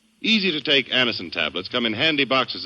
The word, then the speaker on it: Anacin: You can get Anison at any drug counter. It's spelled Anacin. Easy-to-take Anison tablets come in handy